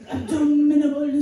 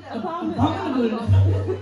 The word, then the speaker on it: abominable: It is abdominable snowman. How do you say it? Abominable. It is abominable.